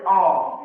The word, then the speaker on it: awe: Aw, aw bacanya o.